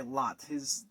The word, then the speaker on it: Lot: Now, there is not a whole lot in the Bible mentioned about the guy Lot. Yes, you are hearing that name right. It's spelled L-O-T, Lot.